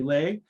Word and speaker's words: Le: public service internship program my name is lay and it spells l.e but pronounced delay as a legitimate your best friend